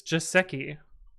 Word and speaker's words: Joseki: I learned how to pronounce it. It's Joseki.